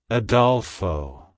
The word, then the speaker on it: Adolfo: It's pronounced as Adolfo. Adolfo. Adolfo. To pronounce it correctly, emphasize the first syllable, ah, and the second syllable, doel, with a short o sound, and end with fa.